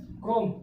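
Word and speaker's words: chrome: क्रोम, इसमें H silent हो गया। एच जब साइलेंट क्या बचा? CROME, क्रोम।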